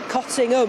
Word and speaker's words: Cottingham: And if you're a local, you pronounce it Cottingham, if you just want a pronunciation there.